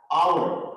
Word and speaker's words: hour: we have used so because students h is very silent letter when we have to stress an hour which is a bubble